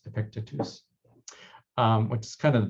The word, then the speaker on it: Epictetus: This is Epictetus that I used to pronounce Epictetus, but it's Epictetus, which is kind of the beginning of cognitive behavioral therapy back in ancient Greek times.